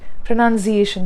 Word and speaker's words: pronunciation: So when you also articulate this word, pronunciation, that slight z sound is there.